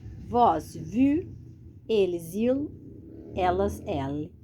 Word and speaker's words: vous: Viram o quê? Que quando a gente tem essa terminação de letra S aqui, ó, a gente não vai pronunciar esse S. Esse S, nas palavras em francês, qualquer palavra, a gente não pronuncia esse S. Sumiu um pouquinho ali da tela, voltei. A gente não pronuncia esses S's finais, a menos que na frente tenha uma palavra começada com vogal.